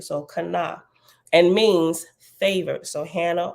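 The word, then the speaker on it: Channah: familiar English version of the Hebrew name Hana pronounced Kana it is spelled c-h-a-n-n-a-h pronounced Kana k-h-a-w dash n a w so Kana and means favor so Hannah or Kana means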